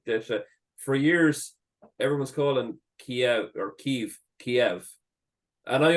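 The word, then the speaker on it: Kyiv: than me that um Kiev is the Russian pronunciation of the city so to call to to pronounce it like that is a bit of uh you know an insult to them especially with with what's going on there now so it's ke all the new sites here call it ke pronounce it ke now I don't think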